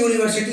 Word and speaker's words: university: तो ऐसी स्थिति में यूनिवर्सिटी के पहले आप ए लगाएंगे और उच्चारण हो जाएगा UNIVERSITY। आप यहां पर देख रहे हैं यू से शुरू है, लेकिन हिंदी में पढ़ेंगे यूनिवर्सिटी।